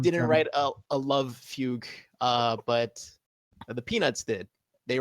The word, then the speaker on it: fugue: It's like a love song of that Italian technique called fugue. That's how you pronounce it in English.